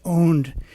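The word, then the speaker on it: pwn: you can look at that funny word PW n is pronounced owned is hacker jargon for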